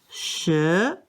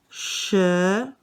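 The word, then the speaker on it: 十: is just a simple cross and it is pronounced sure sure sure is number 10.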